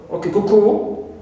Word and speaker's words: cuckoo: Also the word cuckoo, the bird, cuckoo, although it ends with o, but here we stress the first syllable and not the suffix ku.